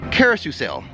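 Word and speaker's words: Caro-Seuss-el: arable mentioned will be the kosu sale is how they say it it's a Carousel and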